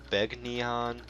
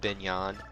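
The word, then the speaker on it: Begnion: country's name a few times some people have pronounced it beg neon beg neon pinyon and then the the narrator from radiant dawn confirmed that it is indeed been yon the GaN sound mixes together like the GN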